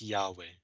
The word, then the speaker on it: Yahweh: notice this second name there are no vowels so how do you say this word nobody really knows but scholars guess that it's probably pronounced yahweh and this is the